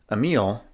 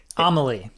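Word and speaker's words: Amélie: So in a panic, having certainly not intended on killing BB, Emile, it was Emile, right? Is that how you pronounce it? Amelie.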